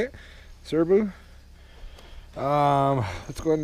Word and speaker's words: Serbu: is a serbu that's how you say it serbu um let's go ahead and make sure it's